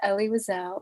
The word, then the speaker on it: Elie Wiesel: just so everybody knows his name is ellie wisell it was ellie wiseau